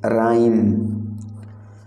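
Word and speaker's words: rhyme: तुक का मतलब है राइम। राइम, तो राइम में जो आपका साइलेंट लेटर है वो है एच। आप राइम को प्रोनाउंस करते समय एच का यूज नहीं करते हैं।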